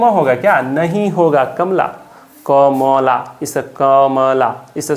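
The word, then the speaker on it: Kamla: तो कमला जब पढ़ते हैं प्रोनाउंसिएशन पे बात आती है तो म को बिल्कुल हल्के आवाज़ में पढ़ते हैं। तो एम ए से म, एल ए से ला, कमला।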